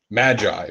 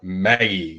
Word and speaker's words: Magi: well it's called alright it should be called Magi but they call it Maggie because they're Japanese and they don't know how to pronounce that word and it wasn't very